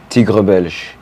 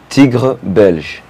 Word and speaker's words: Tigre Belge: If you guys have been checking out my posts, his IG name is Tigre Belge. Oh my god, I was gonna ask. How do you pronounce it? Say it again. Tigre Belge.